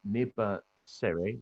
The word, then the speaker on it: Neba Sere: Firstly will be Neba Sere. Neba, have I pronounced your name correct?